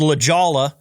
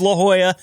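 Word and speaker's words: La Jolla: There's a city in California called LAA. Uh but that's definitely not how it's pronounced. This is La Joya.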